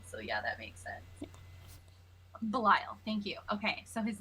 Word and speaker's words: Belial: split in directions so um his name is bell's isle as i am i pronouncing that right dm belisle bell isle i spelled it as bell and isle so yeah that makes sense belial thank you okay so his name is belial